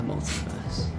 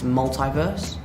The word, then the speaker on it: multiverse: Because I think in an American accent it's multiverse. Okay. And I said multiverse.